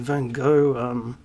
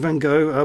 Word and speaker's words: van Gogh: Get out one of our Vincent van Gogh. I don't care how the Dutch pronounce it. This is how I pronounce it. I pronounce it the French way, so fuck you. Vincent van Gogh books, and have a